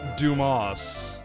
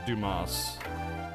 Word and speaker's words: Dumas: It's pronounced Dumas. Y'all, it's Dumas.